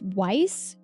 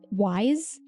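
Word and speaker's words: Ys: It's Weiss. Wise. We wise.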